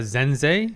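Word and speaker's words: Sense: I suppose I guess I'm guessing Zen uh Zenz as some viewers pointed out how to pronounce her name properly since S is Z in German pronunciation as Zenz also pointed out which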